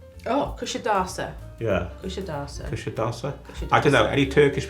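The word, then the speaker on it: Kuşadası: Apparently, it's the S is a sh. Kusadasi. And the I at the end is not an I. It's Kusadasa. Oh, Kusadasa. Yeah. Kusadasa.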